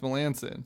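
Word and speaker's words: Melancon: which would be great it's pronounced Melanson as you say or is it Melanson or is it you say Milland King everything I've seen it's Melanson it's Melanson who's asking that really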